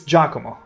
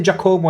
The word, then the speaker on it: Giacomo: pronunciation hurts my soul. Giacomo. No. Oh. Oh, that hurt. Oh, that hurt. It's Giacomo. Never say that again. Never say Giacomo again.